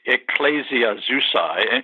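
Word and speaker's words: Ecclesiazusae: one the original word for Assembly women uh ecclesias sorry say that again so it's Ecclesia zusa am I breaking up yeah you did just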